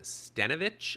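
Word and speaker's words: Stenavich: new offensive coordinator and Adam stenovich I believe is how you pronounce it he was the Run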